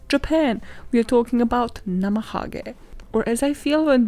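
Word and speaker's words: なまはげ: And the teachers would be like encouraging them, like, oh my god, this is great, Namahage, yes. No bitch, pronounce it how it's read, Namahage, Japanese people know how to do it.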